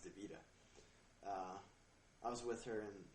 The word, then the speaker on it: Davida: talking about uh Davida everybody calls her DaVita but actually her name's pronounced DaVita uh I was with